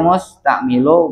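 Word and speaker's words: مستعمِل: Walau kana al musta'milu, itu bacanya musta'milu bi kasril mim.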